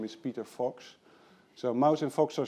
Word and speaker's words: Vos: is ren's mouse and my name is peter fox so mouse and fox are still around and